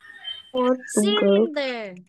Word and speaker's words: cylinder: Cylinder. Cylinder. Soft C. Soft C.